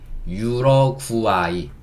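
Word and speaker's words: Uruguay: A가 아 소리 내고 U가 우 소리 내고 A가 아 소리 내고 그 다음에 Y가 유러과이 구아 하면 과처럼 들리죠. 유러과이 이렇게 발음할 수 있고 요게 우루과이입니다.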